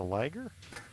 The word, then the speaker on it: Liger: How the hell you put the damn Liger down? Are you calling it a liger? Because we No, have to the have a conversation about that. no, there is Liger rhymes with tigers in the chat.